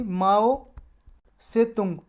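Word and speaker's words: Mao Zedong: इसका full name है जी माओ जेडोंग, या ये माओ जेडोंग, या इसको प्रोनाउंस करते हैं जी पॉपुलरली माओ से तुंग, TSE और TUNG, माओ से तुंग।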